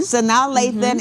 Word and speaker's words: Sanaa Lathan: Sanaa Lathan, and is it Ty Diggs?